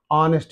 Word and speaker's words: honest: a honest you know honest is there okay honest here this is silent h word okay there is a